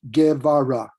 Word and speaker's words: Guevara: And my last name is pronounced Guevara.